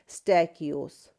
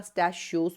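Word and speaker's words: stachyose: और इसकी एक इंपॉर्टेंट एग्जांपल जो है वो है स्टैकियोस। आप इसको स्टकियोस बोले या स्टशियोस बोले। प्रोनाउंसिएशन आप पे डिपेंड करती है। दोनों प्रोनाउंसिएशंस ठीक है।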